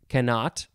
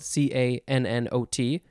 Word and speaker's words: cannot: cannon fire next is oh you could say this a few ways i would pronounce it cannot it is spelled c-a-n-n-o-t cannot you could also say cannot you can emphasize the first syllable cannot cannot cannot yep this is from